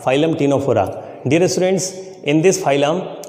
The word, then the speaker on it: Ctenophora: Dear students, here the pronunciation of टीनोफोरा इज टीनोफोरा, बट द in writing C is silent.